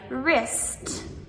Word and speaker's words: wrist: So, in words like wrist or write or wrong.